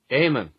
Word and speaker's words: Eamon: don't you take a crack at this one Eamon Shetty is that your guess as well as well yes Eamon so it's e-a-m-o-n and here is the correct pronunciation amen is the Irish form of Old English aired